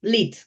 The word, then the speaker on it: lead: Yes, lead, how it pronounced, lead.